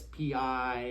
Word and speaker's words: pi: And it's funny symbol, it's Greek, it's a Greek thing, but it's P-I is how it's actually spelled, but we pronounce it pi, so I like to spell it with E, why not?